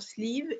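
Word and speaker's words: Slieve League: Ça s'écrit S-L, zut, maintenant j'ai le trou, E-A-G-U-E pour sleeve et ligue comme une ligue, L-E-A-G-U-E.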